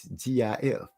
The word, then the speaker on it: GIF: MZ because I care is GIF not GFI pronounce like gift without the tea oh my bad gif